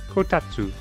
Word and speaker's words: Kotatsu: Kotatsu. Kotatsu. Kotatsu. I don't think you pronounce the S in that. Kotatsu.